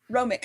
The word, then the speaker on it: Romik: Like I've just met Romik. Is that how you pronounce it? The warriors. I usually use an o a long o ric. Romik.